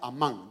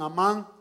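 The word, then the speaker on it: אמן: Ahorita vamos a aprender una palabra hebrea y se pronuncia amán. Digan amán.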